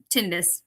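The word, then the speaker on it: tinnitus: And I was like, "Uh, tinitis or tonitis?" Tinitis. He's, you know, he pronounced it tinitis.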